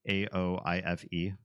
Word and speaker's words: Aoife: That would be pronounced like Aoife, right? The name is Aoife.